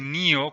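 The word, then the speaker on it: 根尾: En japonés se pronuncia Neo, en inglés se dice Neo como el personaje principal de la película The Matrix, pues obviamente ya hay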